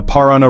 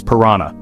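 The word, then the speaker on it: Paraná: Number eight, the Parana River. Often mispronounced as Piranha.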